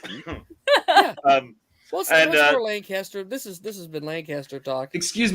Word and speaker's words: Lancaster: Well, And, that's for Lancaster. This has been Lancaster talk. Excuse me, you're pronouncing it how?